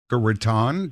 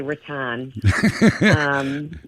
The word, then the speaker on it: Raton: They get a little insulted when you say Raton. It's kind of funny because I always said Raton myself until I moved to Boca Raton, and I was corrected immediately.